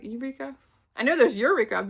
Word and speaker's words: Yreka: It's Yreka. Eureka.